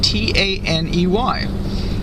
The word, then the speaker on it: Taney: he spelled his name T-A-N-E-Y. He again spells his name T-A-N-E-Y, but he pronounced it Taney, as if it's just as if it was Saunders versus Sanders.